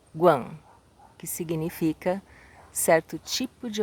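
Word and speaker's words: 觀: E o caractere todo pronuncia-se Guan, que significa certo tipo de observação, uma certa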